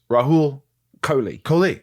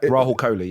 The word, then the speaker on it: Rahul Kohli: It's, by the way, I'm saying it right. It's Rahul Kohli. Yeah. It's not Rahul Kohli, yeah. Rahul, but you say it fast. I do, yeah. But Rahul, was it Rahul? No, there's an H.